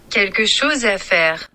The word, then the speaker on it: Quelque chose à faire: I'm gonna get them to actually pronounce it. Quelque chose à faire. I was close. Yeah, you were. Quelque chose à faire.